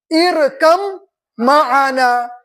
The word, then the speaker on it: ارکب معنا: تو دیکھیے اس طریقے سے قرآن پاک میں لکھا ہوا ارکب معنا، لیکن تلفظ ہوگا ارکم معنا.